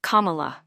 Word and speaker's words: Kamala: Berkeley and not on her name comma is pronounced Kamala and it means lotus flower as she writes